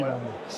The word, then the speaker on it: Montner: Ouais, on devrait dire Montner, mais on dit Montre.